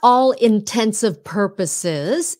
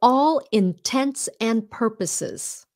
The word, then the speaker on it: for all intents and purposes: longer intelligent um yeah it's not all intensive purposes it's all intense and purposes not intensive purposes for all intents and purposes it means for practical